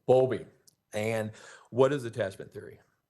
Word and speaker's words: Bowlby: Okay, and it's Bowlby. I'm mispronouncing that. Bowlby. Bowlby.